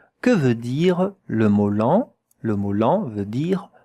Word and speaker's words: lent: The T at the end, you don't hear it. When it is not with a E after it, most of the time you don't hear it. So, here it's not an exception. Lent, it ends with a T, you don't hear the T.